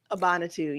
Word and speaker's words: Abanitu: You've got a film called Abanitu. Is that how you pronounce it? Abanitu, yes.